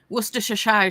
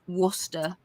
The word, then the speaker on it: Worcestershire: like when it's like when Americans say Worcestershire, Shire, and it's just like it's just Worcester.